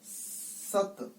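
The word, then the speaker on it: ਸਤਿ: ससा तता सिहारी ती, सत, इसको जो सिहारी है इसको पंजाबी में साइलेंट मानते हैं, इसको बोलते नहीं है।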